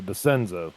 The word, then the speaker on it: DeSenzo: C is silent. So, Desenzo. There we go.